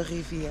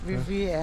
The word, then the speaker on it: rivier: Ik neem water van de rivier. Van de rivier. Rivier. Ik van water heel de rivier. Ja. Ik neem water van de rivier. Van de rivier. Ja. Sorry. You say it like French, Riviere.